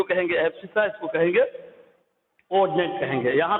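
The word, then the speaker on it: abscissa: एब्सिसा। इसकी spelling होगी ABS CI, ABS CI एब्सिसा।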